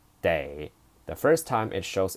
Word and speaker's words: 得: Day, this word is a polyphone. In this sentence, day, this character appears twice. This is the first time. Pronounce it as day.